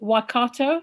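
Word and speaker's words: Waikato: associate professor at the university of is it wakato you pronounce it yes yes thank you yeah and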